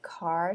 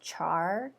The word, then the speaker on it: char: day was saying that car should be pronounced char and then if you pronounce it car you're an abomination and to them i